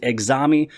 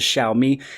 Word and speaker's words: Xiaomi: name of shall meet a lot of people state exami but today I just wanted to correct it and state it the correct way which is Xiaomi now this little set-top